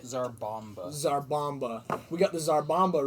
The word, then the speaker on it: Tsar Bomba: The Tsar bomba. That's how you say it. Zarbomba.